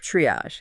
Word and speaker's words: triage: It's pronounced triage. Triage.